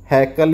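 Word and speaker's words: Haeckel: जो अर्नेस्ट हैकल ने 1869 में इसको, हैकल हिकल कुछ भी पढ़ सकते हो भाई, इंग्लिश में देख लो ये है। ठीक है, अर्नेस्ट हैकल भी बोल देते हैं इसको, हिकल भी बोल सकते हैं, प्रोनाउंसिएशन अलग अलग जगह अलग अलग हो सकता है।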